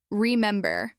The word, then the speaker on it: remember: For example, remember. Clap on mem.